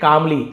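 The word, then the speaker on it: calmly: तुम सीखोगे he said कामली L silent है कामलमली नहीं पढ़ेंगे कामली काम डाउन बोलते हैं ना शांत हो जाओ तो शांति को काम कहा जाता है।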